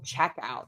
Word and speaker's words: checkout: So I stressed word 1 in that compound noun when it's a noun, and word 2 in the phrasal verb when that is a verb.